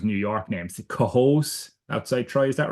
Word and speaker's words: Cohoes: is the problem I have now trying to pronounce New York names- "Cohoes" outside Troy- is that right Cohoes.